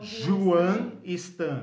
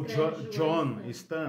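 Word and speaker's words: Juan Stam: Então, Juan Stan, né? Ou John Stan, mas ele é mais conhecido pelo nome espanhol dele, Juan, né? Com J, né? Como se fala em espanhol, Juan Stan.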